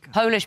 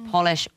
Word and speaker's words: Polish: These are words that change their pronunciation and meaning depending on whether or not they have a capital letter. Without a capital T, it's tangier. Natal becomes natal. Polish becomes Polish.